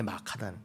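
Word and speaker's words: مكة: 럼 쓰게 된 거지만 원 발음은 원래 마카다는 마카 이슬람 애들은 정식 명칭으로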